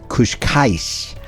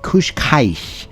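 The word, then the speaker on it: Cascais: a Beach town called kushka and I may not say that one quite right Kush Kai and it's spelled CA c a i s and it consists of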